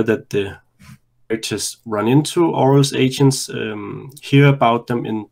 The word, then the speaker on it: Auril: Is it Auril or Auril, or how did you pronounce it? It's supposed to be pronounced Auril because it used to be pronounced Auril, Auril, okay. But that it doesn't sit well these days.